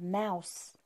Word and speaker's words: mouse: Box, box, box, هي صندوق, Then we have mouse. Mouse. O-U is pronounced owl.